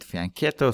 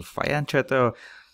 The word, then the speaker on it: fianchetto: speak about fianchetto bishops some people pronounce it fianchetto some people fire and chatter so it's not an